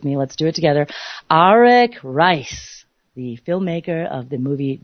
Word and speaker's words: Arik Reiss: Arak and it's very exciting many people might pronounce his name Eric Ries but indeed that is incorrect so I want